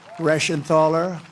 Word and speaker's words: Reschenthaler: Guy Reschenthaler. That's the hardest name in the Senate to pronounce, but I've learned how to pronounce it.